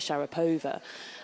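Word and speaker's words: Sharapova: it I think we would always say like Shar POA um and but then others you know would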